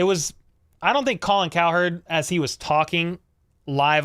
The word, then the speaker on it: Cowherd: go calling coward yeah it's cow herd but I I kind of pronounce it coward sometimes weren't gonna need